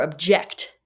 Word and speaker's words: object: Object, emphasis on the first syllable or object, emphasis on the second syllable. Well, if it's a thing, it's an object. But if it's a phrase in court, I object. You don't say I object.